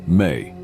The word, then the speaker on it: ME: Another potent symbol related to Enki is the Emes, pronounced May.